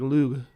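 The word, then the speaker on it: Lugh: son of of lug is like a g sound sort of but it's not it's not as harsh as the uh Ang angelized version of it so you want to say it like with sort of a soft G but not the not the soft G that you're used to it's like lug like at the end it's not G but it's not J either it's it's yeah that's what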